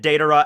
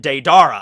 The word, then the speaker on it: Deidara: watching it like the original um and they pronounced it data as well i still kept pronouncing it deidara i don't know why this is one of